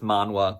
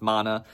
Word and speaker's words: Manhwa: I mispronounce literally any I've already mispronounced Manhwa I know, I'm pretty sure it's pronounced Mana, but old habits die hard.